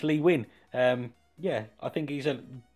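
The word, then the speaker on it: Lee Nguyen: I kept saying Nguyen, but it's Lee Wynn.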